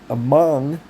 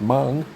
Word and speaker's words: Hmong: It says among American. I assume that's how it's pronounced. Mung, whatever it is. Like on that Tarantino movie or Gran Torino movie, not Tarantino. Gran Torino, Mung. I think that's what it is.